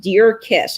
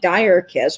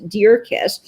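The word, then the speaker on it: Djer-Kiss: This is from the 1930s, but it's actually pronounced Deer Kiss. It looks like Dire Kiss, but it is Deer Kiss.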